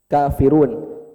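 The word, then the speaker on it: كَافِرُونَ: Kalau waw sukun setelah domah. Contohnya banyak. Misalnya di sini kafirun. Cuman karena di akhir, karena ada di akhir, aslinya apa? Aslinya kafirun kan waw sukun sebenarnya domah apa ya? Aslinya 2 harokat. Cuman kalau Bapak berhenti di situ, Bapak kasih pilihan, boleh 2, boleh 4, boleh 6. Tapi hukum asalnya 2.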